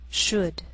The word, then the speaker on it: should: Sometimes L can be silent, so you have to be careful. The first 5 words listed below are very common, so let's take the time to make sure that you're pronouncing them correctly. Listen and repeat after me. Talk, walk, could, should, would.